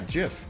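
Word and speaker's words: GIF: how he pronounce this Jif it is but it is pronounced Jiff though the creator of it said that Tigger Wong left to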